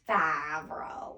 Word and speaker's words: Favreau: It's Favreau.